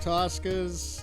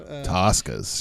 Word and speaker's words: Tusca: Tossas just like said said properly. Yeah. Is that is it did I say it right? That's what everybody calls it, but it's TUSCa.